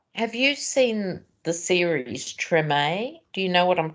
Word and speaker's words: Treme: little scene what have you seen the series Treme do you know what I'm talking about t-r-e-m-e yes write it down because it's felt dream but pronounced Treme spell it again t r e